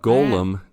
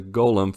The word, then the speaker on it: golem: go there's a ghullam got Gollum dang it I said it wrong that's a golem for those not looking